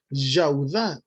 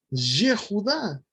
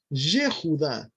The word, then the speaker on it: Yehudá: estamos acostumbrados a decir Yaudá, y tampoco es Yaudá. Vamos a ver desde el Strong que el nombre comienza con Yud, Hei, Vav, y se pronuncia Yehudá. Esa es la pronunciación, Yehudá.